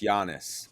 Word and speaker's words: Giannis: Can't even pronounce it right, Hugh. It's Giannis.